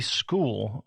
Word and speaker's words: Skool: Later this year, we are going to be launching a free school, which is spelled SKOOL.